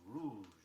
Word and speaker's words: rouge: Another of the everyday words often mispronounced is rouge, R-O-U-G-E. Be careful of that last sound.